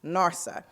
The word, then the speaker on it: NRSA: Neighborhood Revitalization Strategy Area, or NRSA, pronounced NARSA.